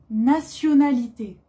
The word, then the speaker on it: nationalité: Aujourd'hui, on apprend les pays et nationalités. Pays, attention, on ne prononce pas le S.